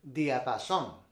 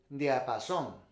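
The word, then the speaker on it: diapasón: はい。El diapason. El diapason. El diapason.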